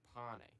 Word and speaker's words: pane: Nah, the pronunciation isn't pain, though. It's pane.